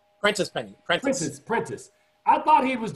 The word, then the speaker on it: Prentice Penny: I didn't like it as much as you did, but I understood that his name is pronounced Prentice Penny, right? Prentice Penny.